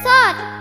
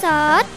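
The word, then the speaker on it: ص: Lampu wasiat ini bentuknya seperti huruf sod. Lihat, Diva, huruf sod mendekati kita. Iya, Pus, ini huruf sod. Aku huruf sod. Sod. Huruf sod bisa untuk soh nun, artinya piring.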